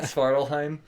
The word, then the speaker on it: Svartalfheim: Now that, and the first place they go is Svartalfheim. I can never say that. Svartalheim. There's way too many F's in a word that isn't pronounced with an F.